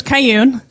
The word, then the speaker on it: Ka Yun: So, my name is Caillune. Rhymes with June.